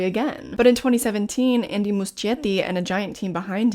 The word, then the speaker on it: Muschietti: own last name, so Muschietti it is. That is apparently the Spanish pronunciation, and he's from Argentina, so we're going with it.